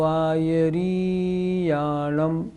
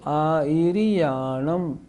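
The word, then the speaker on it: आयरियाणं: दूसरी बात, री जो है वो छोटी है, बड़ी नहीं। लोग बोलते हैं नमो आयर्याणम, ये गलत हो गया। कैसे बोलेंगे? नमो आयर्याणम, ई और री छोटी।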